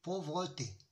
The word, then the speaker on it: pauvreté: Pour le E, qui est E renversé, le E muet, c'est pauvreté. Je peux même éliminer ce E, pauvreté.